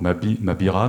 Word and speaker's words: Mavira: et Mabire, puisque déjà, le V se prononce à peu près comme le B en espagnol, alors ce qu'on appelle le bétacisme. Ça avait déjà cours au XVIe siècle, hein. Le bétacisme, c'était déjà, d'après les chercheurs, c'était déjà prononcé comme ça. Donc Mavir, donc Mabira, Mabir,